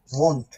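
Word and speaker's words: wohnt: বলে উচ্চারণ খেয়াল করছেন কেউ সে কিন্তু ওন পড়ে নাই ভোন্ট পড়ছে ওন্ন কিন্তু পড়ে নাই ভোন্ট মনে আছে ডব্লিউ ডব্লিউ উচ্চারণ কি ছিল বে এই যে এখানে বে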